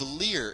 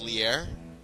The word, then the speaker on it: Leer: it lowers the defense in Spanish it's pronounced liar and what it is